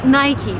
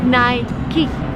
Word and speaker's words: Nike: busca Nike shoes the correct way to pronounce this brand name is Nike but that's very American if you travel abroad people would say naik but the right ways night key because this it's just the way it's pronounced